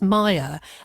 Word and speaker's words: Maîr: Yeah, my name is funny cuz my middle name is Welsh and it's actually pronounced Maya. But it rhymes with choir, which is always quite